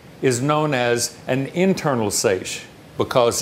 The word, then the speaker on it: seiche: metalimnion of the lake is known as a seiche. That's spelled S-E-I-C-H-E.